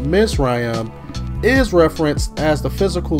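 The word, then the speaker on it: מִצְרַיִם: bondage also the word egypt which is pronounced misrayam is referenced as the physical land every time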